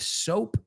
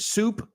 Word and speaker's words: soap: Well, first thing they recommend is to clean the area with soap and water, the affected area of your skin, right? With soap and water. Careful you don't pronounce it soup, que yo he ido